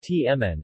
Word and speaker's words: Htamanè: two main Burmese pronounced tmn also spelt HT Amane is a glutinous rice